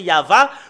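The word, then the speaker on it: יהוה: que la première partie c'est ya mais sur la deuxième partie il l'ont changé en V alors que nous avons vu dans la Bible hébreu tout à l'heure c'est yava quand on le prononce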